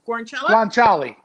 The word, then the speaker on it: guanciale: It's the how do you pronounce it? Guanciale? Guanciale.